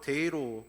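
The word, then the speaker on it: δεῖ: 여기서 마땅해라라는 말은 헬라어로 데이로 발음을 하는데 하나님의 거룩한 필연을 뜻하는 것입니다.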